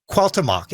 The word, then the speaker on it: Cuauhtémoc: So what is this naming Cuauhtémoc, and then there's an accent or accent over the e. Yeah, it's an Cuauhtémoc. accent on the E.